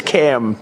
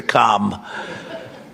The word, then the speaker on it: Kamla: It's cam, right? Cam as opposed to come.